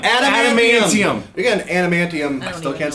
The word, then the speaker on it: adamantium: If you guys adamantium. Adamantium. You got an adamantium.